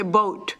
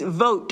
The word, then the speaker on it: vote: So you heard me say boat. It's vote, and I have to tell myself vote or visa.